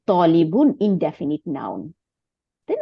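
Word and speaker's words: طَالِبٌ: কিন্তু লম্বা করার জন্য ত আলিফ জবর ত লাম জের নি বা বা দুই পেশ বু বুন তাইলে তলিবুন ইনডেফিনিট নাউন তাই না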